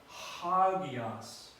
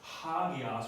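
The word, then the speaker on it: ἅγιος: it akuo I hear the rough breathing has an H sound to it so it's not it's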